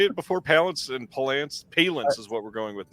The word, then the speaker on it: Palance: Palance is what we're going with now. I usually say Palance, yeah. But I think it's All right. Palance.